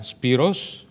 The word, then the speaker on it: Spyros: Well, I'm Spyros. Okay, that's how my name is pronounced in Greek, and I come from the University of the Aegean, from the beautiful island of Samos.